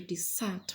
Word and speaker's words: desert: And to desert, which is a verb, is to leave empty or to leave completely. The house was deserted. That is a verb. Its stress is falling on the second syllable.